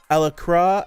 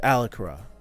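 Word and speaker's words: Alacrya: called um ah ala alacra al how do you pronounce it a a-l-a-c-r-y-e alacra alacra i think it's alakara i was thinking it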